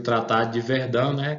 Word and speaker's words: Verdun: Isso aí é no chamado Tratado de Verdun, escreve com O aqui, mas a pronúncia é Verdun, e o império vai ser dividido.